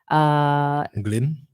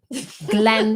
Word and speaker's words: Glenn: Glyn? Glenn, please pronounce it properly.